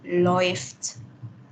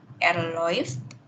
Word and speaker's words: läuft: Kenapa kok dibaca oi? Karena kalau au melat kan dibacanya e. E ketemu u jadinya oi. Gitu. Sehingga kalau du menjadi du läuft. Kalau er läuft.